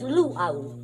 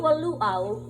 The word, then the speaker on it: luau: word i want to stress the word is luau l-u-a-u is a native feast you see in